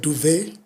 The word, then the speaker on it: duvet: You know, you've got words like duvet where you don't pronounce the T.